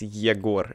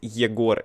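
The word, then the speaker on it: Егор: Yeah, my name is Yegor. If you will speak Russian, if you will speak in English, it will be. It is different pronunciation. In Russian is Yegor, in English is.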